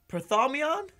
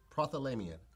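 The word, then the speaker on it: prothalamion: Prothomion?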